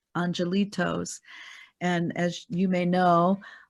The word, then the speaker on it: angelitos: And so Angelitos means, you know, like the little ones that were lost. Yeah, it's angelitos, pronounced in Spanish.